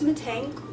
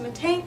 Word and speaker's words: Mittank: Today's case is actually on a man named Lars Mittank, or Mittank. I've most commonly heard it pronounced Mittank, so that's going to be how I say it in this video, but I'm not quite sure.